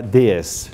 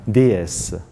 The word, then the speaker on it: DS: y analiza las imágenes de la nube Citroën, que se llama DS. DS, pero pronunciado, una palabra, digamos unas siglas pronunciadas a la francesa, significan diosa.